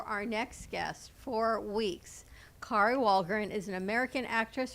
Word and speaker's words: Kari: Let's bring over Kari that says it rhymes with sorry.